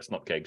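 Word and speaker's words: snupkg: But yeah, Paul found out about snupkegs yesterday because he hadn't heard about them before, and then he didn't like my pronunciation of that one either. But the snupkeg is just it's how you pronounce it.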